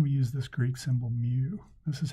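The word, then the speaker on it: μ: mean well then we use this Greek symbol Mew this is how you say it me this is how you spell it and this is how you need to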